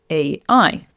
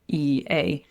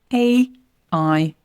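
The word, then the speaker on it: AI: We pronounce the letters separately. It's not like all together. So, the correct pronunciation is A I and the incorrect way would be saying E A.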